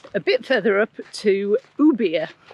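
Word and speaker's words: Ubirr: bit further up to ubia it's pronounced no beer there's actually it's quite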